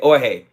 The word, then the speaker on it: Jorge: You mean Jorge. I'm not... Yo, okay, Jorge. I got you. H is silent.